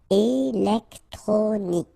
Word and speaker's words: électronique: Okay, so K at the end, remember, Q-U-E at the end. K. Électronique.